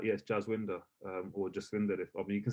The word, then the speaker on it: Jaswinder: I never really whitewashed it, but the name to say it properly would be Jaswinder. If somebody can say it who's Punjabi, but someone who doesn't know my name might just say Jaswinder because that's how it's spelled. Now I'm always not sure because we've not really got like a W. It's meant to be like a Vava. See what I'm saying? There's no actual W we have.